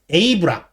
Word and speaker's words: 에이브람: 삼국지 연의를 모티브로 하는 에이브람, 저렇게 영무란몽이라고 쓰고 에이브람이라고 읽는 겁니다.